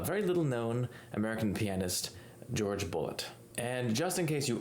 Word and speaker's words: Jorge Bolet: the united states and he always used the anglicized pronunciation of his name doing a video like